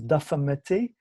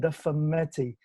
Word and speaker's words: Dafa Metti: The title of the film is Dafa Metti, which okay, in Wolof is difficult.